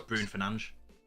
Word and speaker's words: Bruno Fernandes: Obviously, it's Fernandes, but it's don't even pronounce the O either in Bruno. It's Bruno Fernandes.